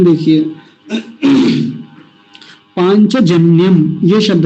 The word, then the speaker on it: पाञ्चजन्य: शब्द है पांच तो पहले शब्द को ऐसे लिखेंगे पांच य जो बीच में य बोला जाता है इसको य का होता है च छ ज य चक या च वर्ग का अंतिम वर्ण है य तो की आवाज देगा जैसे हम पंच लिखते